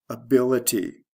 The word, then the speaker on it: ability: Able, ability. The stress shift is from the first to second syllable.